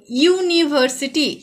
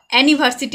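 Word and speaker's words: university: ইউনিভার্সিটি। এটা কিন্তু অ্যানিভার্সিটি আমরা বলছি না, কি বলছি? ইউনিভার্সিটি। এখানে ইউর উচ্চারণ ইউ এর মতোই হচ্ছে।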